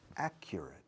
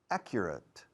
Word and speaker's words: accurate: Fijaos en la pronunciación. A es una A corta. Accure, como una cura. Una cura, curar, cure. Accurate.